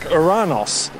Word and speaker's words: Uranus: Some say that it should be pronounced more like Uranos, as that would have been closer to the pronunciation of the Greek god of the sky that it's named after.